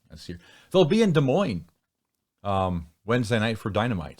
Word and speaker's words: Des Moines: heading down and we will be landing in desmon in uh 20 minutes yeah desmon it's pronounced De Moine and if you're from there and you say